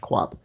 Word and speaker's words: QOP: So Alex writes, with no preamble, there is a lord in Dota 2 named Queen of Pain who is referred to as QOP, pronounced Quap.